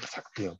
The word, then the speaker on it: 삭대엽: 이 글자는 숫자를 나타내는 수지만 세말수지만 이게 빠르다라고 읽을 때는요. 삭이라고 있습니다. 이걸 여러분 이걸 수대엽인데 이거 오탄인가 이렇게 생각하시면 안 돼요. 이럴 때는 삭으로 읽는 거예요. 그래서 삭대엽이라고 읽는다는 것도 알아두시면 좋겠습니다.